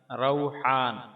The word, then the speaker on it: روحان: ہا، نون ساکن، روحان۔ ہمارے ہاں یہ نام عام طور پر را کے پیش کے ساتھ روحان بولا جاتا ہے، جبکہ اس کا درست تلفظ را کے فتحہ یعنی زبر کے ساتھ ہے، روحان۔ یہ بات دارالفتاح جامعہ